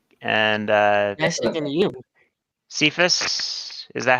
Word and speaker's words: Cephas: Cephas.